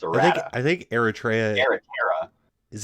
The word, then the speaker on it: errata: In the Eritrea, it's whenever she spends a hit die. I'm sorry, how did you pronounce that? Eritrea? Errata? I don't know. Errata.